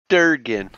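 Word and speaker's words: Dergun: How do you spell that? D-E-R-G-U-N. Okay. Oh, I get it. It's a Durgan.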